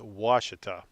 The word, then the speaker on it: Ouachita: here you got lake washita it's spelled uh o-u-a-c-h-i-t-a and it's pronounced washita and it's a huge